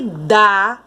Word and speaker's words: dá: tênis dela sempre dar Olha como esse da é pronunciado com mais força então aqui ó e se dá com acento tem pronúncia forte agora sempre dá um